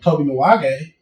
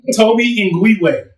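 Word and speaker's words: Tobe Nwigwe: That's like going back in the day when I went to go see Toby Nwage when he was still a small artist inside Toby Nwage?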